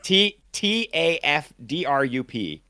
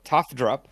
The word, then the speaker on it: Tafdrup: That's the director's first name, and then it's Trafdrup. That's it. Tafdrup. So Tafdrup, whatever.